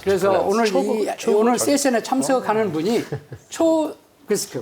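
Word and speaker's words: Teagasc: 그래서 오늘 세션에 참석하는 분이 초그스크, right? 초그스크. 이 발음만 제대로 알아도 굉장히 중요한데 이것이 왜 중요하냐?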